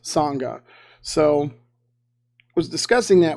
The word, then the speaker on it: sangha: word spelled out so so that's how it's pronounced sangha so i was discussing that with them they